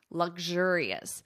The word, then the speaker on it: luxurious: luxury and turn it into an adjective luxurious luxurious notice that pronunciation here luxury luxurious King Charles is used